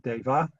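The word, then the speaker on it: Devaḥ: This colon is called a visarga, and the use of a visarga is that it puts a silent H after the last syllable, so that instead of Deva, it becomes Deva.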